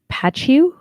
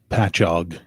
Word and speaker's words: Patchogue: Patchu? How do you say that one? Patchogue.